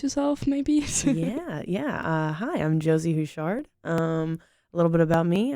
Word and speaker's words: Houchard: My name is Veronica Becher, and today I'm sitting here with Josie Houchard. I hope I pronounced it right.